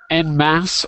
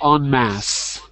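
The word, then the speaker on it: en masse: no okay so it's the pronunciation is n mass or on mass so en is a prefix for mass yeah because it's a foreign word that we're borrowing in english so in fact they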